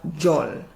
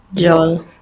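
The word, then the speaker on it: djol: But the D here is silent, and so we simply have a J sound. So in the same way, if you're saying jet, Japan, Jamaica, here we have jol. Jol.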